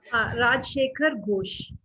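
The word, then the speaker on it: Rajshekhar Basu: Rajshekhar Bosu. The Bengali name, actually, I'm pronouncing in Bengali. Rajshekhar Ghosh. Rajshekhar Ghosh.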